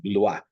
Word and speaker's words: Blois: in the city of, it's pronounced Blois, B-L-O-I-S. It's spelled B-L-O-I-S, looks like Blois, but it's Blois.